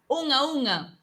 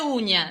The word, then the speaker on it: unha: Non é uña, dicimos unha. Unha é uma. É unha cousa. Sim. É o... non se pronuncia ñ. Nós temos un ñ. Isto é outra cousa. O NH é un N velar. Entón, faise, como decía Cristina, aquí. Unha. Soa aquí na garganta.